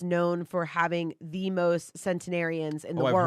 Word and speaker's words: centenarian: Well, I'll tell you what, if you guys like centenarians, what's the word?